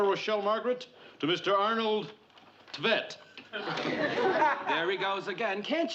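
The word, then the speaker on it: Tvedt: Arnold Tvet. There he goes again. Can't you read anything without mispronouncing it? How would you pronounce that then? Tvet. T-V-E-D-T.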